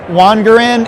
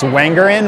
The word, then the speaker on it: Wangerin: I put a split in it because often it's mispronounced as Wangerin when it's all one. So by putting that break in the name, you get the hard G.